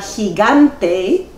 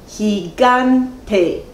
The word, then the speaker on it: gigante: más fuerte por ejemplo en la palabra gigante hay tres sílabas gigante y el acento prosódico recae sobre la segunda sílaba el acento prosódico siempre